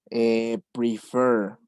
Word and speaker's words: prefer: Porque aquí está acentuada en el último. Prefer, prefer.